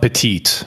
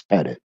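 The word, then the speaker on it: Pettit: T Don peted not petite for sake P it's pett it it's Double T it's not you you can pronounce the name any way you want but technically spelling it's petted yeah so which one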